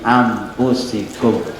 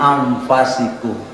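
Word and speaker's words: أنفسكم: Kalau Imam Fakhruddin Ar-Razi dalam kitab Tafsir Al-Kabir, beliau membacanya laqad ja'akum rasulun min anfasikum. Yang tadi dibaca kena ampus, tapi anfas.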